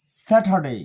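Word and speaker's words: Saturday: হয় British pronunciation অনুযায়ী আর এর পরে যদি কনসোনেন্ট আসে তাহলে সেখানে র উচ্চারিত হয় না সেই হিসাবে স্যাটারডে ডেই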